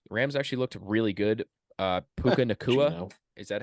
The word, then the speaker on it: Puka Nacua: Puka Nacua, is that how you say his name?